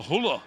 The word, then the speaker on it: Hull: Oh, Huller. Hull lad. Speak Hull. Don't pronounce the H.